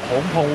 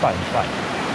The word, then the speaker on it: 芃芃: 这里呢叫做蓬蓬温泉，但很多人都会把它发音发错，叫做范范。